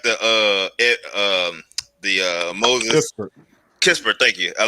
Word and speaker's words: Kispert: Crispert. Yeah, I like him. I do like the Moses Kispert.